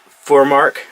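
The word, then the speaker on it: FurMark: video I have a four mark running believe that's how you pronounce it f you are ma RK for mark the reason for this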